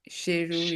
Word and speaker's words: chirurgien: So, chirurgien. It's chirurgien.